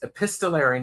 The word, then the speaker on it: epistolary: mispronouncing epistolary, and everybody is looking it up. No, Epistolary. you're not mispronouncing it. That's correct. But I love the idea of a book about correspondence.